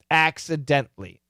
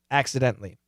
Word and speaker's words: accidentally: because that's the pronunciation we don't typically pronounce that syllable you'll hear it some people will say it but this is what you should say accidentally accidentally okay so moving on